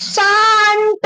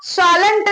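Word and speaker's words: shan't: Next, would plus not wouldn't, बाकी सब same, बाकी शाल प्लस नॉट शांत आएगा, शालंट नहीं आएगा, शांत आएगा।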